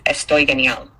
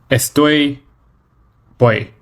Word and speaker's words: Estoy genial: "I'm great" in Spanish is "Estoy genial." Now, please say it back to me and I'll check your pronunciation. Estoy boy.